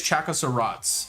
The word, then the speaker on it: Chakkoszrot: is completely wrong so i say it's chaka sarats and you can deal with it because there's no other pronunciation because the word is made up so czechoslovaks check